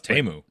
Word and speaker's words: Teemu: Oh, it's tamu. Is it tamu? Oh, okay. Sure. Tamu like tamu salani of hockey fame. You're a little more familiar with the Finnish pronunciations.